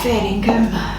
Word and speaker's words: fair dinkum: Oh, fair dinkum. Repeat that? Fair dinkum? Fair dinkum. Spell it for me.